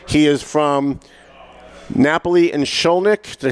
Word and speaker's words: Shkolnik: He is from Napoli and Shkolnik.